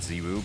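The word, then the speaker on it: ZywOo: but now, or Zaiwu, I still don't know how to pronounce his name. Ziwu? It sounds better, right? It's Everyone French. says Zaiwu, but... I think it is Zaiwu. I think he himself said it's Zaiwu, right?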